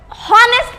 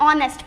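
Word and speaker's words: honest: कोई बच्चा, कोई लोग हॉनेस्ट पढ़ते हैं, लेकिन ये प्रोनाउंसिएशन गलत होता है, हम इसे ऑनेस्ट पढ़ते हैं। क्या बोलते हैं, ऑनेस्ट।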